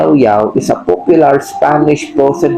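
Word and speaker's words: Llaollao: Pero ang basa niya ilaw-ilaw. O ilaw. Nag-iilaw, nag-spark. Kaya ang pronounce niya yaw-yaw is a popular Spanish frozen yogurt brand known for its natural skim milk.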